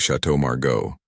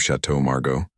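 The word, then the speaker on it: Château Margaux: "We'll have the 1995 Chateau Margo," he said, trying to sound important. "But he said the French name wrong, making it sound like Shadow Margos instead of the correct French pronunciation."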